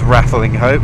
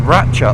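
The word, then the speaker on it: Rattlinghope: to, as it's spelled Rattling Hope, I've always pronounced it as Rattling Hope, but someone at work corrected me. Says, oh, you're not a proper Shropshire lad. I was like, what? It's pronounced Ratchup.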